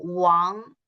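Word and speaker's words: 王: Y de hecho, se pronuncia como Wang. Y como tenemos cuatro tonos en los carrés chinos, y se cambia un poco y forma un carré chino nuevo, que es Wang, que es mi apellido.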